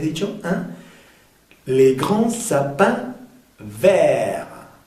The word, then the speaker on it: verts: En, les grands sapins verts. Aquí vamos a pronunciar ver solamente la R, la T y la S no se pronuncian.